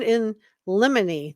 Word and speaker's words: in limine: It's pronounced motion in limine.